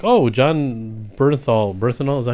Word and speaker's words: Bernthal: Bernthal, is that how you pronounce his name? Yeah, Bernthal.